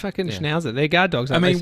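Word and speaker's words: Schnauzer: But it's pronounced schnowzer, is it?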